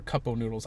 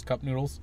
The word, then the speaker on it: Cup Noodles: And How do you pronounce it cup noodles or cup-o noodles? I've always called it cup-o noodles, even though the actual term is cup noodles.